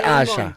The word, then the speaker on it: Asa: That was Asha. Yeah. And the song is called Jailer. Calling her Asa for years. It's written. It's written ASA. Mara ke Asha.